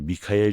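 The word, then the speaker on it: מיכאל: 히브리어로 미카엘이라고 발음되는 이 이름은 의문사 미와 비교의 전치사 카 그리고 하나님을 뜻하는 엘의 조합으로 이루어져 있거든요. 이는 그 어떤 존재도 하나님과 비교될 수 없다는 겸손한 고백이면서 동시에 미카엘 자신이 그 진리를 수호하는 전사임을 선언하는 것이기도 합니다.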